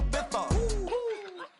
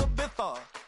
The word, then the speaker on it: Ibiza: I just went to Spain, that's a bitha. Ibiza. Yeah, it's pronounced Ibiza, actually.